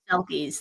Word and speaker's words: selkie: So I've also always loved selkies. Like as a kid, absolutely loved selkies. So I'm probably pronouncing it wrong, but I have always loved them.